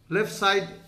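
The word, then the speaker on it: 四: Then we put a left side downward.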